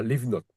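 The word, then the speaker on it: לבנות: voilà, leave note, qui veut dire construire, voilà. Leave note, tu vois, la correction. Voilà. Leave, la première syllabe, c'est leave. Et la deuxième syllabe, c'est note.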